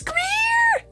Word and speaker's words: Greer: It's Greer! Greer! She rhymes with cheer.